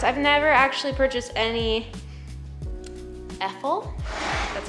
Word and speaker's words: Effol: I've never actually purchased any Effol, that's how you say it, products before, so that'll be something new and I'll let you guys know what I think.